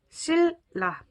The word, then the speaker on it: 신라: 신라 이렇게 발음하는 것이 아니라 실라 이렇게 발음을 하죠. 이 신자의 니은이 리을 발음이 된 거고요.